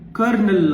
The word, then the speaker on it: colonel: spelling ಏನಿದ್ರಿಸಿ ಓಎಲ್ ಓಎನ್ಇಎಲ್ ಅನ್ನ ನಾವು ಹೆಂಗೆ ಬಳಸ್ತೀವಿ ಕರ್ನಲ್ ಅಂತಹೇಳಿ ಬಳಸ್ತೀವಿ ರ ಅಂತಹೇಳಿ ಉಚ್ಚಾರ ಮಾಡ್ತೀವಿ ಸೋ ಮೂಲವಾಗಿ ಈ ಕರ್ನಲ್ ಅನ್ನೋ ಪದ